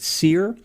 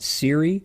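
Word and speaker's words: Cyre: It's spelled C-Y-R-E. I've always called it Seir. Some people call it Siri. Some people call it Kyre. I call it Seir.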